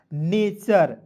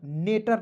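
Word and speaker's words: nature: दुनिया की किसी भी वर्ड्स के अंतिम में टी यू आर ई आएगा। उसका उच्चारण दोस्तों चर के रूप में करते हैं। जैसे मैं यहां पे एक वर्ड्स लिख रहा हूं। एन ए टी यू आर ई। अब बताइए दोस्तों इसे क्या पढ़ते हैं? एन ए का लिख दीजिएगा। ने टी यू आर ई को लिखेंगे दोस्तों चर तो हो जाएगा नेचर। नेटर नहीं पढ़िएगा।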